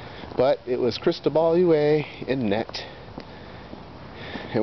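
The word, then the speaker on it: Huet: it was crystal balue way in net and when your name should rhyme with a net but doesn't as is the case with the way then instead his name is the way cuz he gives the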